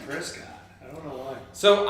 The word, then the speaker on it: Prescott: So, and you know people that are not from Nevada because they pronounce it Nevada. It's Ohio. Or that's like Prescott and Prescott.